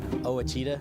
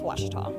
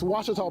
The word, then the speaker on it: Ouachita: by Taylor King law I've heard people say oh a cheetah oh Wichita oh a cheetah is it pronounced oh Akita searching for Washita Baptist University back in Texas everybody pronounces it Wichita but really it's Ouachita Washington how would you pronounce it it's Ouachita